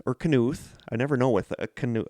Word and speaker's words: Knuth: The K is silent.